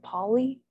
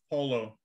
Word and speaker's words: Pullo: Did he say his name was Polly? Pullo.